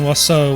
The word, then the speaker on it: oiseau: So the first half of that name is a play on oiseau, which is the French word for bird. Yes, it's pronounced like that, even though none of the letters should be pronounced like that.